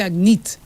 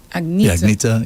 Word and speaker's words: Agneta: But most people say Agnete. Agneta.